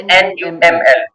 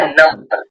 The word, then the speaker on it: NUML: अब नमल को हम ये नहीं करते NUML, ठीक है, हम इसको बोलते हैं नमल।